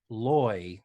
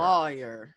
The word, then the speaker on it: lawyer: And pretty much everywhere in the country, other than the South, says lawyer. Loy, like rhymes with boy. But in the South, Lisa Welchel, being from Texas, they say lawyer. Lawyer. Like my lawyer practices law. The two words are pronounced the same.